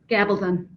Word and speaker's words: Gabaldon: So I'm new to this series, the Outlander series, but Diana Gabaldon, I'm sure I'm butchering that name. Do you know how to say it, Beth? Gabaldon.